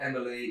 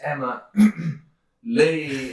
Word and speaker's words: Emma Lee: yeah, and the number of times I have to go, no, my name's not Emily, it's Emma Lee.